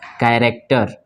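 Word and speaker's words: character: पे क्या है ह ये भी साइलेंट है और इसको क्या पढ़ेंगे हम कैरक्टर क्या पढ़ेंगे इसको कैरेक्टर क्या पढ़ेंगे इसको कैरेक्टर ठीक है और यहां पे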